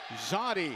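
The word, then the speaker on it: Zawdie: 2 is Zoddy Jackson. Spells his first name Z-A-W-D-I-E. Zoddy is how it's pronounced, and that's how he shoots.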